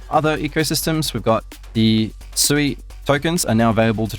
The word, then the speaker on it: Sui: I mean, Sui means water in Cantonese, like Sui, that's how you pronounce it.